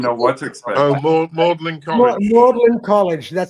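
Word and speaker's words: Magdalen: I don't even know what to expect oh mlin College mlin college that's how you pronounce it mlin not magdalin the Brits you call it mlin oh yeah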